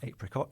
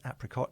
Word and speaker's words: apricot: about the existence of the alternative pronunciation apricot and uh since we had those discussions the OED have actually updated their entry for apricot apricot and they've included the